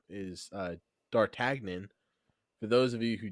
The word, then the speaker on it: D'Artagnan: All right, we'll say it with a French accent I mean, because it's a French name.